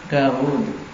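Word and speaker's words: داود: Mudahnya memang demikian Arab menuliskannya dan membacanya dengan mat. Daud.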